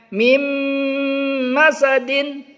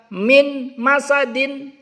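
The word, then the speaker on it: مِن مَّسَدٍ: Nah, nun sukun ini kita leburkan ke huruf mim. Jadi kita bacanya mim masadin. Tidak boleh kita baca min masadin. Min masadin itu keliru.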